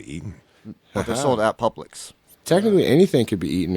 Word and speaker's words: Publix: coast reference sir the pubics i go down the publix sir it's pronounced publix it looks like pubics i know what it